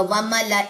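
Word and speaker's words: وملإيه: मुबीन इला फिर व मला यहां पे अलिफ साइलेंट है तो सिर्फ लाम पढ़ा जाएगा व मला इह तब अमरा फिर वमा अम्र फिर रशीद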